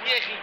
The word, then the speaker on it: Thierry: It's a French name. It pronounced Thierry.